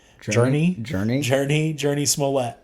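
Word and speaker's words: Smollett: journey journey journey journey smolette smolette that's how you say it but yeah that's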